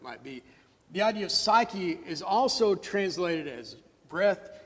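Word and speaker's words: ψυχή: life there is different it's the word is pronounced psyche of course we all know what that means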